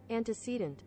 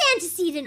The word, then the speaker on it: antecedent: Anticcedant. It is antecedent. Oh my god. Oh my god. It is antecedent. Anticcedant. I've been saying it wrong the whole time.